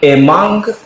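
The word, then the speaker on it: among: a teacher is Singh अमंग अमंग या अमोंग दोनों उच्चारण है अमोंग मेनी स्टूडेंट्स तो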